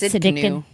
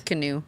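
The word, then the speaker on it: Tsidkenu: It's Sidkenu. What is it? The T is silent. Yes. It's Sidkenu. Sidkenu.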